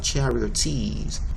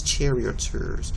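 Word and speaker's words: charioteers: charity or tease it's charioters so we're gonna see that how that's pronounced over there anytime you see a double e followed by an R it's going to be ER not ears okay charioters now let's take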